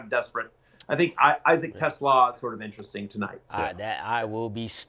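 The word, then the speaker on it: Isaac TeSlaa: not in fact play Isaac Tesla is how you say it.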